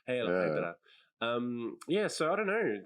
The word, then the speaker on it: Hydra: It's pronounced Hydra. Hydra.